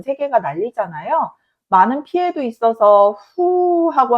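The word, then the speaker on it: フ: 난리잖아요 많은 피해도 있어서 후하고 한 숨이 절로 나오는데요 바탁 하나 후는 한글 자음 기역 모양의 발음이 후 그래서 기후의 후라고 기억하시면 되겠습니다 한 숨 쉬는 소리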